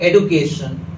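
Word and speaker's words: education: ये वर्ड लिखा हुआ है, इसे हम लोग क्या पढ़ते हैं, एजुकेशन, एजुकेशन, जबकि अमेरिकन इसे कहते हैं एडुकेशन, एडुकेशन, यानी डी यू को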